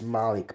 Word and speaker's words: Moloch: It's Malik pronunciation. Malik, Moloch, it's the same thing.